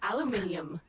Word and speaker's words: aluminium: Aluminium or aluminum as Americans pronounce it incorrectly.